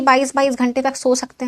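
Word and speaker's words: tsetse: जाता है इंसान, सोना से सोमा याद रखना। इसका जो वेक्टर है वो है सीसी फ्लाइज। इसको टसी टसी मत पढ़ना, सीसी फ्लाइज पढ़ना है इसको, टी साइलेंट है यहाँ पे।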